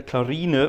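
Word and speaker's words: Clarine: of expect but a clarina you have to pronounce the e at the end a clarina for which is nice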